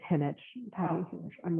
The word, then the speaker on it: Jinich: It's actually it's Henich.